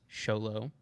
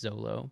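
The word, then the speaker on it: Xolo: and I did look it up it is pronounced sholo I think a lot of people think it's Zolo but I checked it okay go ahead I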